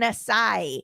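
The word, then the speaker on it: açaí: So acai, I say acai. It says people will often say acai, acai, and even acai, but the proper pronunciation is acai.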